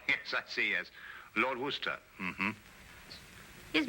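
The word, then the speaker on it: Worcester: where sister oh yes I see as Lord Worster mhm his M be fit to be hog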